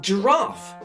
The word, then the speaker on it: giraffe: So no animals starting with long vowels, soft C or G or digraphs, like giraffe, which starts with a J sound, not a G sound.